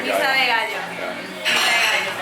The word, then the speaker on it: Misa de Gallo: I like there's a local band called Misa de Gallo. Miso. Yeah, de Misa Gallo. de Gallo. Yeah. Misa de Gallo. How do you spell that? M-I-S-A and an E, and Gallo is G-A-L-L-O. Misa de Gallo.